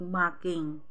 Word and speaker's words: marking: Nung unang linggo ko dito, medyo na-confuse pa ako kasi ang pag-pronounce nila ay parang ang tunog making kasi ganon sila kas lang inaalis nila or silent R yung kanilang pagbigas.